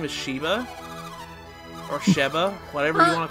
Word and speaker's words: Sheba: later in the game her name is Shiva or Sheva whatever you want to follow no she's not spelled like that it's a sh sh e ba not SH Y VA I was colored I always called her Sheba but not shatter shadow